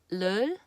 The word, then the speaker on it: 를: Okay, on its own, if I were to pronounce leul by itself, just on its own, it's leul, leul, right?